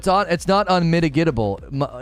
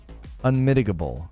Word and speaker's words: unmitigable: It's not unmitigatable. It's unmitigable.